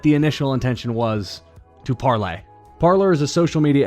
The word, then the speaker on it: Parler: be all calling this parlor or parlor the correct and initial pronunciation how the app developers intended for it to be was parlay uh very much like the the french term so i just wanted